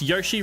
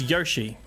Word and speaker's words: Yoshi: as well all right there we go you pronounce Yoshi wrong it's Yoshi okay cool thanks Yoshi um drink Jin